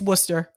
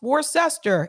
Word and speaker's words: Worcester: who don't know uh it's worcester if some of you are reading this and you're like that's pronounced war sester it's worcester that i want to